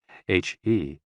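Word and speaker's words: hē: HE, pronounced like her, with a yawn, which is associated with the heart.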